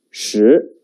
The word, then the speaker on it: 十: The pronunciation is 十.